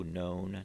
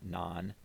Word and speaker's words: non: hept seven oct eight known is nine and it's a long o known not none and ten is dec